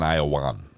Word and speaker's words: Iowan: No, I am an Iowan, is how it says.